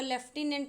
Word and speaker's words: lieutenant: Question number 5, तो question number 5 देखिएगा, name the ल्यूटिनेंट, जिसको लेफ्टिनेंट कहते हैं फ्रेंड्स, इसको ध्यान रखिएगा, स्पेलिंग भी एग्जाम में आता है। तो LIEUTENANT correct spelling of लेफ्टिनेंट, that is called ल्यूटिनेंट। Okay, of Saturn in द